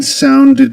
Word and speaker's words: sounded: The ed ending in the word sounded is pronounced as ed. Because the word sound ends with a d sound, with a d consonant.